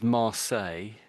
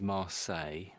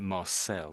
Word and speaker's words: Marseille: it's in France so this is Marles in English we say it is Marseilles and it doesn't look like Marles looks like Marcel doesn't it and I think the odd American might say it that way. But it's marles normally in English.